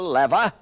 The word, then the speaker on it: lever: The lever or as some pronounce it the lever, the incline plane, the wheel and axle, the screw, the wedge and the pulley.